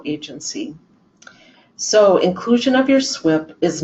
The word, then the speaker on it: SWPPP: I'll remind everyone at first that SWIP is spelled SWPPP, and it stands for the Stormwater Pollution Prevention Plan.